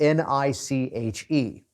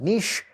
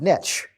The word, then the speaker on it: niche: a little word spelled N-I-C-H-E. And some cultures like to pronounce that niche. I say call it niche, because niche rhymes with rich.